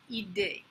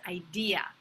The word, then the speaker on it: idea: It's not idée, close, but not it. As in, I have a good idée. No, it is idea. I have a good idea. And you can remember that idea rhymes with the store IKEA, because it is not IKEA over here, but IKEA.